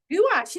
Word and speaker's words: gouache: Uh, I use watercolor, gouache, and Gouache, is that how you pronounce it?